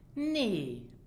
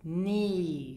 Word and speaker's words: nee: And word number 2, nee. This means no. And it is pronounced nee. So the E is long.